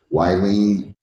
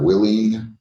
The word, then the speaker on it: Willie: So, if I forgot to ask you your name or mispronounced your name by calling you Wylene instead of Willie.